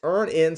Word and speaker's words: Earn In: That's Earn In, spelled like earning money without the G.